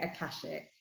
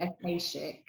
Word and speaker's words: Akashic: I say it Akashic. Akashic. Some people say Akashic, and I'm sure other people say lots of other things. But yeah, I say Akashic.